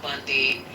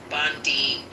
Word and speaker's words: Bondi: He is all over the place talking big trash about you know uh Pam Bundy. Bondi. Did I say Bundy?